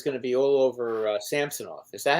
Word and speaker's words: Samsonov: I've heard rumors that Toronto was going to be all over Samsonov. Is that how you pronounce his name?